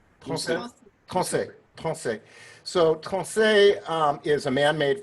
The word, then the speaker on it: Tronçais: One is in Limoges, and it's called Limousin oak, and the other one is it pronounced Tronçais? Tronçais.